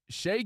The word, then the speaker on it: Shai: Is it Shea? Is it Shai? Is it Gilgis? What's up, Gilgis? It's Shea Gilgis Alexander.